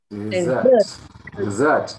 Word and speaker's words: dessert: Next word. Dessert. The stress is on the second syllable.